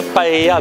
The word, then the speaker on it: paella: Valencia, c'est la ville où a été inventée la paella, ou plutôt devrais-je dire la paella, puisque c'est comme ça qu'on prononce ici.